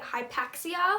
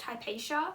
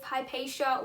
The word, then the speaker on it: Hypatia: My first guess was that it was going to be Hypaxia. Actually, I think her name is actually pronounced Hypatia, but I thought it